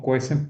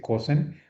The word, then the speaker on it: cuecen: Sin embargo, cuando se cocinan, sí, si se cuecen los vegetales, y digo cuecen, porque no se dice cosen, cuecen los vegetales, la